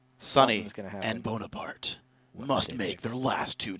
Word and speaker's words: Bonaparte: and Bonaparte must make their last two choices. Bonaparte. No. That's not how you say it. There's no accent on the E.